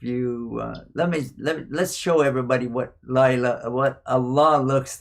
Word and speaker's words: Allah: Yeah, and you say it like this. Allah. There's air coming out after the last ah. Allah.